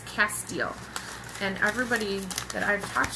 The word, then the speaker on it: Castile: So for the soap, I got this, and this is and I looked it up how to pronounce it. It's Castile, and everybody that I've talked to actually knows about it.